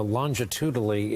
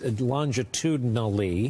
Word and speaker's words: longitudinally: the exception of arizona longitudinally it's longitudinally got it i cheated myself on a syllable that first time uh you could make